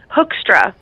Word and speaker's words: Hoekstra: So, how you pronounce the company? Hoekstra.